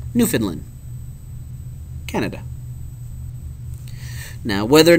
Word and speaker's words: Newfoundland: Pronounced Newfoundland, Canada.